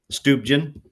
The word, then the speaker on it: Stuebgen: Stuben. Okay. I pronounce it right so I'm good.